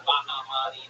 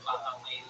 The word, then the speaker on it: Bahmani: And that's what short for your last name, Bahmani. Why do you go by? You pronounce it Bahmani, Bahmani.